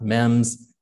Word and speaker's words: MEMS: micro electromechanical systems which is very long it's pronounced mems chip so this little chip we can put